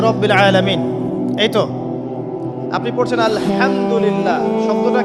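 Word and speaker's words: الحمد لله: আলহামদুলিল্লাহি রাব্বিল আলামিন। এইতো আপনি পড়ছেন আলহামদুলিল্লাহ। শব্দটা কি? আলহামদুলিল্লাহ। এই হা এর মাখরাজ কোথায়? হা এর মাখরাজ কোথায়? বলেন একজন কন্ঠনালীর মাঝখান থেকে এখান থেকে আপনি উচ্চারণ করছেন আলহামদুলিল্লাহি রাব্বিল আলামিন অর্থ দাঁড়াচ্ছে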